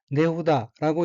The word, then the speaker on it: 値札: 셋째 줄의 왼쪽 어휘는 한자가 한국어로 치찰이고 각기 갑치, 편지찰자로 되어 있고 일본어로는 네후다라고 읽으며 네후다는 값을 적어 상품에 붙인 표, 정가표라는 뜻입니다.